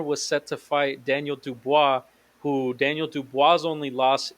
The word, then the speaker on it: Dubois: I call them dubious, and you said Oh, Dubois.